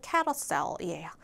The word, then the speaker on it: carousel: 근데 발음이 잘 이렇게 보면 생긴 대로 보면은 carousel처럼 보이지만 실제 발음은 carousel이에요.